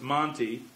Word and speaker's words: Monte Vista: doesn't cover everything though monte vista is usually just monty and the final vowel